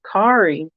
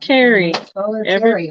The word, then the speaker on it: Kari: And we all know, Kari, her whole life has been like, my name is Kari. So, not Carrie. Everybody wants to pronounce it Carrie, but it's the Scandinavian, Norwegian.